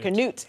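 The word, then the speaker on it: Curnutte: Is it Cornett? I'm saying it right. Canute.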